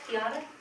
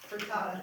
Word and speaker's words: Frittata: Piata? Frittata.